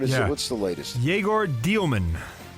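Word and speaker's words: Dëmin: Yegor Dielman.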